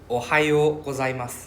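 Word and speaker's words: おはよう: Number one, Ohio. Ohio. Okay. So this O with a roof simply means it's a O U sound, right?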